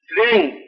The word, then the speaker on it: श्रेंग: बाकी जो है छठा बीज आप लिखिए श्रेंग।